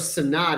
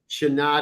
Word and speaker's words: Shanad: I thought it was Sanad. Is it Shanad? That would be, yes, phonetically the right way to pronounce it. Shanad is more appropriate.